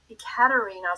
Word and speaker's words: Ekaterina: So this one is, the one that I've given you is by Ekaterina, so there's an E in front of it, Shelhova, is how you pronounce her name.